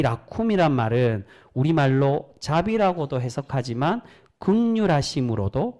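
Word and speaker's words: רחום: 근데 여러분 여기서 자비롭다는 말은 히브리어 원어로 라쿰이라고 되어 있습니다. 라훔이라고도 발음하는데 이 라쿰이란 말은 우리말로 자비라고도 해석하지만 긍휼하심으로도 그렇게 해석을 많이 합니다.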